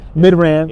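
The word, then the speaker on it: Midrand: chance to go to mid-ran that's how you pronounce it mid-ran yeah we're actually saying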